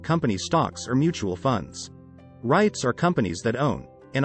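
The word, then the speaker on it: REIT: managing those properties yourself what is a right right rhymes with sweet stands for Real Estate Investment Trust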